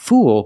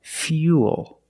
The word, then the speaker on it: fuel: one's a little different we're going to use the e sound fear fuel not fool but fuel we have the same long u sound after the yeah so it's U plus the dark L Fuel not few o